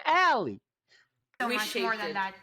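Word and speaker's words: Ale: it to Danny and Allie, we made it so. It's Allie. That's how you say her name, Allie.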